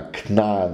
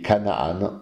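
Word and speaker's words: כנען: ici le fameux Canaan on prononce cela knnaan en hébreu et Kanaan en grec passons à la généalogie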